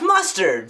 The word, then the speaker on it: Mustard: know you you're Chef mustard from that TV show uh cooking with mustard it's pronounced mustar the D is silent are you kidding me